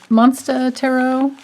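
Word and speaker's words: Monstarot: and today i'm using the monsta tarot it but it's it's spelled like m-o-n-s-t-a-r-o-t and it's available on etsy if you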